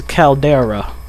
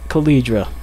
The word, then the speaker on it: Caldera: sorry everyone I was the real way to say it is Caldera and I was saying it caledra sorry everyone if I